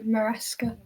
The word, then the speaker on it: Maresca: Minesca. Mesa. I think Rebecca knows it better than me. How do you pronounce his name? Oh goodness. Maresca.